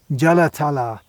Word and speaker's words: Jalatala: now David as he know the pronunciation that's a long hair at the end jalatala this is the name